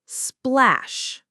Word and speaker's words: splash: You mentioned the short A sound in splash. That's right, it's splash. The sound is like in cat. So, a splash of. Make sure to pronounce the H at the end clearly.